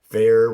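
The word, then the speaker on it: Feyr: Fair, which pronounced fear. Yeah. Spelled F-E-Y-R, but pronounced fear.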